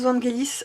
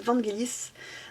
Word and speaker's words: Vangelis: des parfums de 2020, je le prononce comme le compositeur grec du même nom, parce que pour moi Vangelis se prononce ainsi, c'est le nom d'un... En grec en fait ça se prononce ainsi, donc voilà, je prononce pas la française, j'ai peut-être tort, auquel cas j'en suis désolée.